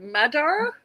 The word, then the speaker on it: Magyar: I'm saying Magyar because that's how it's spelled. She said Madar.